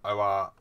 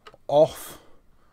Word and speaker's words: OFRF: It's not ORFF or OFRF. It's pronounced off.